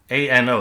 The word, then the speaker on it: ano: This is pronounced ano and with well an o is pronounced ano and means like anus.